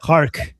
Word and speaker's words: خارگ: خارگ. ببین هم خارگ درسته هم خارک درسته. خارگ تلفظ قدیمیشه، خارک اسم در واقع جغرافیاییشه.